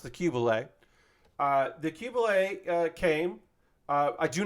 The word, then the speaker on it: Qubeley: The Qubeley, and I believe that is how it's pronounced, the Qubeley.